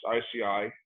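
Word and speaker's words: ISEAI: the international society of environmentally acquired illnesses uh pronounced ici uh that's i-c-i-s-e-a-i dot org uh i'm also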